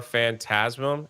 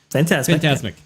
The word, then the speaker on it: Fantasmic: I went to the last show before Fantasm Fantasmic. Is that what how you say it? Fantasmic, which I don't like that at all, honestly.